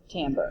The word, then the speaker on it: timbre: And yes, it is pronounced timbre.